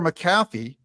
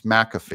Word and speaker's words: McAfee: Supreme Court Days Later maffy McAfee sorry I've had you guys correct me on the pronunciation of his name that it's McAfee I've been doing that